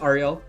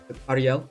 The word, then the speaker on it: Ariel: she's telling me Ariel so it is Ariel Ariel if it's like Spanish but it's like the